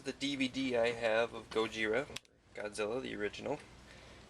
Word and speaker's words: ゴジラ: by the Japanese filmmakers Godzilla is how Gojira is pronounced properly in Japanese too the company behind